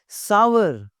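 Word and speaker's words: sour: सावर, जी सावर। Grapes are सावर, grapes are सोर नहीं होता भाई, ग्रेप्स आर सावर। ये बोलने, ये सीख लें,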